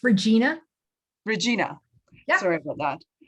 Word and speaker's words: Regina: Did I pronounce it wrong? Sorry. It's okay. It's Regina.